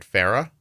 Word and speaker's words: Farrah: Farrah? Yep, just like the late Farrah Fawcett.